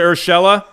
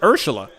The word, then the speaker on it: Urshela: year that whole year oh is it urshela i thought i was pronouncing it wrong i don't know why i got a yankee i got a yankee fan friend he always says he always says ursula huh i could have